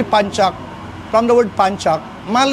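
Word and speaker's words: pencak: pag um sa Pilipinas kasi wrong pronunciation eh. Pengcock sila actually panchak from the word panchak mal nagagamit na ng panchak tausog nagagamit ng panchak.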